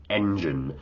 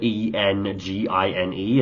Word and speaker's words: Enjin: Now, it's not spelled like the English version of E N G I N E. It's got like a Japanese spelling. It's like E N J I N. Um, so it's probably pronounced more like engine, but it I realize